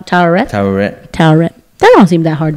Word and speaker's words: Taweret: Taweret. I don't know if you heard it. That's her name. Taweret.